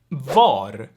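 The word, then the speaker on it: vad: means what is yeah the d gets dropped so we have va or va there too then in verbs in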